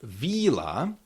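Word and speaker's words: víla: So for example, we have the word villa, which means a villa, and if we make this I long and we get vila, vila, it means a fairy, like the magic creature.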